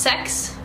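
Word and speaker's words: seks: like, I like 6 because in Norwegian 6 is pronounced sex, so it sounds like sex.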